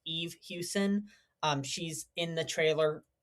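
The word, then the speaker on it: Eve Hewson: I think her name is pronounced Eve Houston.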